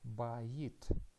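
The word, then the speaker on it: בית: And after that we have hirik, which means e, and the final letter is taf, t. So we can read this word as bayit, which means house.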